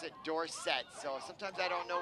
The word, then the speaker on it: Dorsett: He was called Tony Dorsett, and then he asked everyone to pronounce it Dorsett.